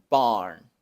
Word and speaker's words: barn: La palabra barn, granero, se pronuncia con una B y luego aquí la A se pronuncia con la A larga, que ya expliqué cómo pronunciar. Los labios superiores se relajan y la mandíbula se baja. Barn, barn. Enseguida tenemos una R del inglés y una N del español.